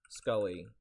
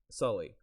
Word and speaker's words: Sully: It's Scully. Wait, is that how you pronounce? How do you pronounce his name from Monsters Inc? Scully? What is it? Sully. It's Sully from Monsters Inc.